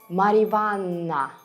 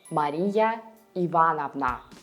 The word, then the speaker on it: Мария Ивановна: Sometimes in conversational speech, patronymic names get reduced, and you can hear Ivan Ivanich instead of Ivan Ivanovich, or Marivanna instead of Maria Ivanovna.